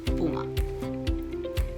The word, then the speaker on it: puma: Puma. Pero en inglés lo pronunciamos puma. Puma. Se escribe igual, pero la pronunciación diferente.